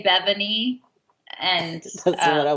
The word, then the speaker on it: Bevani: Bevani. Bevani. Bevani. Bevani. Bevani. Yes. All right, because I didn't want to mess it up. I know. A lot of people say Bevani, and That's uh, what I was going to say.